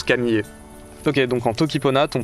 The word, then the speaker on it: Kamije: Je mets le tout dans un cartouche et ça se prononce Camillier.